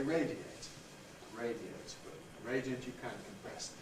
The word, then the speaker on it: radiate: compress the radi to radiate on the other hand is not compressible it has to stay as three syllables because a at that point is strong radiate so you can't say radiate you have to say radiate radio radiant you can